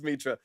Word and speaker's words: Metra: was Metra all right you could maybe put the line over the E because that that's kind of like a that tells you to say it like right yeah would that be May it's just Metra got okay cool I